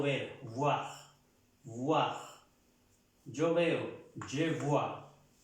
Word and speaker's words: je vois: Recuerden de pronunciar la V, la V, no la B. Porque si ya pronunciamos, si la pronunciamos con la B, je bois quiere decir yo bebo. Entonces debemos hacer la diferencia. Siempre la V, esta V y la B.